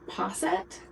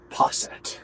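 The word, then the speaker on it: posset: So the modern or the more popular theory is that it's based on a drink called PET. Poset. Poset. I should have Googled the pronunciation when I was writing my notes.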